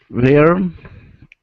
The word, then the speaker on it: learned: Learned. Okay. Again, this sound is like bird. Learn. Okay. Learn. It's one sound, not not two vowel sounds. One vowel sound.